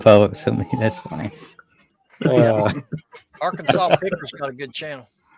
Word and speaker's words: Arkansas: zero funds but yeah Arkansas is how you say that Arkansas not AR Kansas or Ark Kansas Arkansas Kansas Tech what